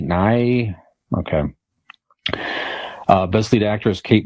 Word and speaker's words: Nighy: Well, if it's spelled like that, it's not him. But yeah, Nighy. Nye.